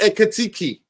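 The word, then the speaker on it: Ekitike: Ikitike. How the hell do you pronounce that name, man? God. Yo, big up, man. How do you pronounce that name? Oh, Ekatiki.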